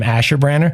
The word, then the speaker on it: Asherbranner: is my last name, Asherbranner. Asherbranner, now working with students over the years in the classroom, I'd go by Mr. A, but Asherbranner is a long name. It's like 10 letters, 4 syllables.